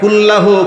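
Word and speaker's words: قُلْ: আর কফ উচ্চারণ না করে আপনি বললেন কুলহু আল্লাহু আহদ কুল বললেন কফ কুল না বলে আপনি কুল বললেন কি হয়ে গেল জানেন কুল মানে হচ্ছে খাওয়া কুলমা কি মানে কি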